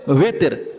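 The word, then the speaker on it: وتر: যেহেতু নামাজটা বেজর সংখ্যায় পড়া হয়, এই জন্য এটার নাম হচ্ছে উইতের। আমাদের সমাজে সালাতুল উইতের কয় নাকি বেতের নামাজ বলে? অত উচ্চারণটা কি? উইতের, ওয়াও দিয়া উইতের, কিন্তু আমরা বলি বেতের, ঠিক আছে না?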